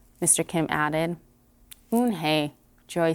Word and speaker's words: Unhei: yes it's for hound it's pronounced yoon hey and it means grace mr kim added oon hey joy says slowly and